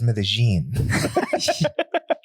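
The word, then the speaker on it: Medellín: everything's in english but all the spanish names you know like like a like an american would pronounce it right yeah right but it's medellin man i wish this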